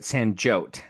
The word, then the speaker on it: Sanjyot: Sanjot, let me make sure I pronounce it.